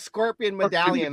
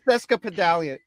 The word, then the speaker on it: sesquipedalian: Yeah, I keep calling it scorpion medallion. That's why. Cheska scorpion medallion. Right. Point blank. It's sesquipedalian.